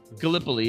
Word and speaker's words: Gallipoli: I think it may have been Did I say that totally incorrectly? It may have been... No, you said it right. This is funny. Gallipoli, yeah, I think you're right.